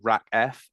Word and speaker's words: RACF: So, RACKF is uh pronounced say RACF is pronounced RACKF um and it stands